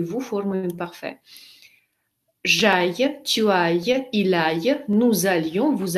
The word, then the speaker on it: aille: Le verbe aller. Читается как aille.